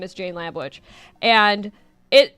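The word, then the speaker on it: Lambwitch: my name is Jane lamb witch and it it's spelled like wi T C like I'll get you my pretty like that which right and I do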